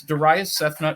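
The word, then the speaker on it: Darayus Sethna: to the contributors tab find my name it's Dias sethna it's spelled D a r a y u s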